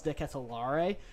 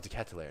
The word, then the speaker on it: De Ketelaere: I'm going to go for Charles De Ketelaere from AC Milan. Definitely not how you say it. It's Charles De Ketelaere, no? De Ketelaere. Oh, okay.